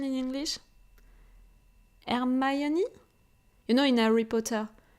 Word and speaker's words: Hermione: the pronunciation in English, Hermione? In Harry Potter. In France, we are calling her Hermione. So really, the difference between Hermione and Hermione, it's so different, But I was really like that, like doing my homework, planning everything.